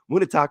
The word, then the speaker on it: Munetaka: Munitaka Murakami. I don't think it's Munich. It's it's spelled Taco.